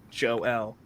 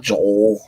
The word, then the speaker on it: Joel: It's pronounced Joel. Yeah, that's why I do How's it. it going? It works phonetically. I like it. So I don't have to explain it to people. It's not Joel.